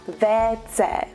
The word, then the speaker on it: WC: In Czechia, we also use the abbreviation WC for water closet, but in Czech, we pronounce that WC.